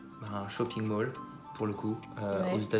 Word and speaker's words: Mall: à londres et voilà c'est le mal oui comme comores mal est là pour le coup